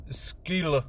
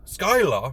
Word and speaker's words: Skylla: after hearing this information skill skyla almost make the wrong pronunciation skip town and ditch